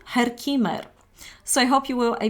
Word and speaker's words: Herkimer: right in English but this is how it's pronounced in actually in Germany Herkimer so I hope you